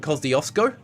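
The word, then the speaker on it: Kosciuszko: Koshusco, I think is correct. Uh, a lot of local Aussies will call it Cosiosco, but I'm pretty sure it's Mount Kushusco. Something like that.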